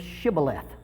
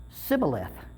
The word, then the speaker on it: Shibboleth: And if he said no, then they would say to him, say the word Shibboleth. And he would say Sibboleth, because he could not pronounce it right, and they would take him and kill him at the fords of the Jordan.